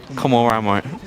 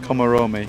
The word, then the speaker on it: Komaromi: Well, everyone calls him, so we'll call him, but I believe it is Komorami. Komorami. I know his first name. I'm pretty sure it's pronounced like that. Komoromi.